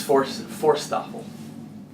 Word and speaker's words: Forsthoefel: Tell us how to pronounce it. I'm getting there, just arriving. It's Forsthoefel.